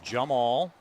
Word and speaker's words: Yammal: pronunciation was okay but it is correct with a Y but it is Jumal Tony Jum all with a J but we knew that.